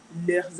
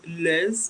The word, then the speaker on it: leurs: So please note the S is silent. You don't say leurs because you want to talk about this particular one. No, it's still leur.